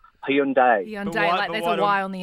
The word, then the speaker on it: Hyundai: is dropped the eyes it's not Hyundai it's not hundi it's Hundai there's a why on